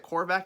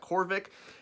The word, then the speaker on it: Korvac: entitled michael korvac k-o-r-v-a-c i believe is how you pronounce that quarterback not korvik anyways michael korvac i'm just